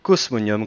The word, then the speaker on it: Cosmonium: Vous tapez dans la barre de recherche Facebook le mot-clé Cosmonium, comme ça se prononce, hein, un mot latin.